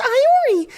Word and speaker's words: Iori: inform you that her name is written as I re not Laurie where were you at the beginning